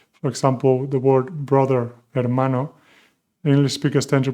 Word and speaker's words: hermano: For example, the word brother, hermano. English speakers tend to pronounce hermano, hermano. No, no, never. The H is completely silent. We do not pronounce it.